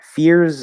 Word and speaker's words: fears: first one easy one fears and fierce the difference is in the last sound fears is spelled with an s but it's pronounced with a z which very commonly happens